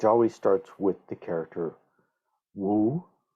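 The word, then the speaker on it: 無: with the character Wu, which is more or less the Mandarin pronunciation, or Mu, if you are a student of Zen in either the Korean or Japanese traditions, you're probably more familiar with this character as Mu.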